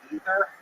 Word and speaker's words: Aether: I thought I read God of Upper Air is actually pronounced Ether and I just like I just call Aether instead.